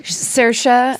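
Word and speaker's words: Saoirse: Sersa.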